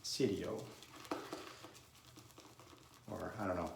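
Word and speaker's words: siero: word red in there in italian you pronounce the i so it's pronounced sidio or i don't know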